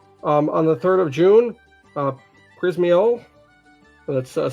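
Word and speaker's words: Przemyśl: On the 3rd of June, Przemysl, that's spelled once again Przemysl.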